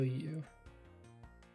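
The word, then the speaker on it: Yew: Callisto U. She pronounced U like Y-O-U.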